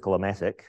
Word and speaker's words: SYCLomatic: would you want to use catic which is how we're going to pronounce it um you might want